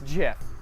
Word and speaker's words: GIF: It's GIF. It's pronounced GIF.